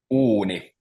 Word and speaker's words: uuni: Uuni. Uni. Uuni. Yeah. Uni. So because there's I see. two U's, it becomes uuni.